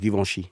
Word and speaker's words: Givenchy: And it's pronounced Givenchy.